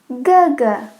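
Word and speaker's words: 哥: Older brother, Ge.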